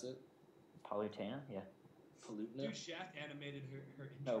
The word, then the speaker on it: Palutena: poena she looks badass is that how you pronounce it palutena yeah paluta sh animated no palutena that only means something to you and all